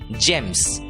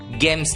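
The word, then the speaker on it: gems: वाली है और इसलिए शब्द का उच्चारण होगा जी एमएस जेम्स गेम्स नहीं जेम्स अगला सब्जेक्ट हैं शब्द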